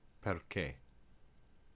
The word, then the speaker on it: perché: In this case, we know that an H makes a C hard, so you would keep those two together, but the R would go with the first syllable.